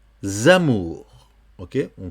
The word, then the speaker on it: amours: Ici, dans le cas du S, c'est un cas aussi un petit peu exceptionnel. Il faut le prononcer comme si c'était un Z. Donc, et nos amours.